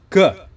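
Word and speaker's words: が: yaitu dakuon Oke jadi ga itu berasal dari huruf k ditambah dua petik di atas nah huruf k ini kan huruf k kalau di tambah dua petik di atas kita sebutnya dengan ga begitu juga dengan Gi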